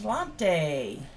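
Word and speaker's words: sláinte: say i do too dan ruth says celante so that's the gaelic cheers there's no g in that word i know that's gaelic though nothing is pronounced like it looks yeah that's true in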